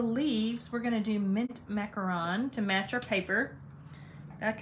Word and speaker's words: macaron: is pronounced mint macaron it's the French macaron um not a macaroon which is a type of cookie a macaron is a